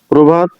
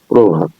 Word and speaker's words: প্রভাত: যুক্ত র ফানা থাকে সেক্ষেত্রে অর্ধ অ এর উচ্চারণ সাধারণত ও কর্ম সংবৃত্ত হয়ে থাকে যেমন গ্রহ গ্রহ প্রভাত প্রভাত প্রথম প্রথম প্রবেশ প্রবেশ প্রজ্ঞা প্রজ্ঞা এখানে গয়